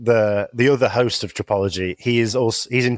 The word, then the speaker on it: Tripology: really cool thank you it rhymes with Biology yeah which you have to say to people sometimes I go it's tropology they go what I